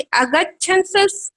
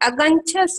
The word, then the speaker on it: अगंछस: भैया जी, ये अगच्छंस होगा कि अगंछस होगा? अगंछस। अगर अगंछस गा में छा, तो बिंदी थोड़ी ना है, छा में है ना बिंदी।